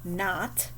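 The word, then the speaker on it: knot: nat for our gn then we have a not for our kn and a wreath for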